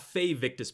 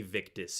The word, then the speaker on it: Victus: The starium minis, knucklebone minis, and it was not fictus, but Victus. V a Victus.